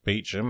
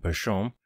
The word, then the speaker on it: Beauchamp: For example, Shepton Beecham is Beecham and not Beauchamp.